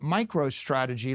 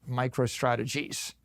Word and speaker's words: MicroStrategy: Now, I name my company Micro Strategy. Let me tell you, for 30 years, half our customers mispronounced it. Micro Strategies.